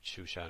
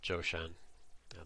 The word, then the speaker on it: Zhoushan: nowhere, as opposed to Chushan or Zhoushan, the modern pronunciation, which is what they wanted, which is up close to Shanghai.